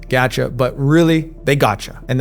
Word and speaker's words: gacha: Yes, I know they're pronounced gacha, but really, they gotcha.